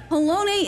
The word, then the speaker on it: Halone: Halone is the correct pronunciation.